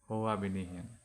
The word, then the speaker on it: Hoabinian: Hoabinian pronunciation মই confirm কৰি দিছো Hoabinian.